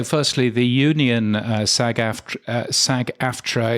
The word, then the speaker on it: SAG-AFTRA: car is uh is Sag aftra or sagafra as I believe uh I've heard it pronounced but anyway um that